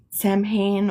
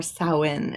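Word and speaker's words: Samhain: town in Edinburgh and uh, we spent Sam Sam Hayne or Sain as it's actually pronounced or all Hallow's Eve there.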